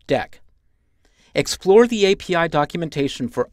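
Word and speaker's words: deque: blocking cues and others called DQ which is normally pronounced deck explore the API documentation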